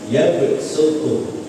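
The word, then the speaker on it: يبسط: Jadi harus dibaca sin sebab ada yang sin ya bacanya untuk imam hafaz ini bacaannya dengan sin maka menjadi yabsutu sin penting pokoke gak usah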